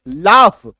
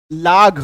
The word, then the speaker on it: laugh: Next शब्द देखिए, लाफ, LAUGH, LAUGH, इसका उच्चारण होता है लाफ, है ना, कंफ्यूज मत कीजिएगा। LAUGH देख करके लाघ, GH तो घ होता